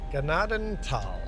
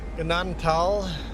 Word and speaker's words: Gnadenthal: Ganaden Tal. Ignore the H. H is silent. Pretend the H isn't there. Ganadan tal.